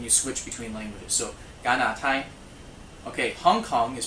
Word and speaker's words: 加拿大: as a 加, but if you go back to the Hakka, then it becomes a ga sound, just like very similar to the English.